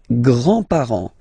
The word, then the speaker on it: grands-parents: Les grands-parents. Les grands-parents. Remember, you don't pronounce this final S here.